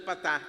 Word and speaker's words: patah: La segunda es un patah, es una A corta, A, seca.